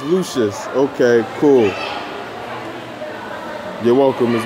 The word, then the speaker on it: Lucious: they very insecure most years things cover all pronounced like Lucius on Empire on the world okay it's lucious okay cool you're welcome as well we should